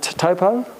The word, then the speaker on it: Taupo: me i was at uh what's the lake taupo i said i was the first time i've